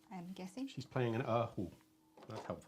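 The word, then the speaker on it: 二胡: She's playing an erhu.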